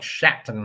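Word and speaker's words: Šatan: there's a hockey player his name is spelled like Satan but it's pronounced like shaton or something goodness look at those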